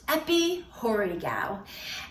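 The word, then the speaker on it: epichorēgeō: word right here and it's pronounced EPI horigao and the definition means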